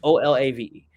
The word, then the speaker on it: Olave: I'll take Chris, whatever, Olave, or Olo, how you say my man's name from Ohio State. He's number 2 from Ohio State. Can't remember how to pronounce the last name. It's Olave.